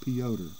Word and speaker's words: Piotr: cards here piotr yawn spelled like peter but they always pronounce it peoter this is his rookie